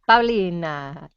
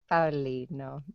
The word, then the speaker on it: Paulino: Hola, Paulina, Tito. What? Paulinito. Catalina rhymes with Paulina. Catalina, Oh, yeah. but Yeah, yeah, but I'm Paulino. Paulino.